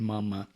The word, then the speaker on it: mama: Master Samael continues in his writings in Igneous Rose by saying, vocalize the words mama, papa, raising the voice in the first syllable, meaning higher tone, ma, lowering it in the second syllable of each word.